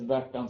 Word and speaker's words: Värtan: So when you get around Sweden here, you get up to where it says Värtan, Södertälje, Gävle, even if you wouldn't pronounce it like that, so that's how you pronounce it in Swedish.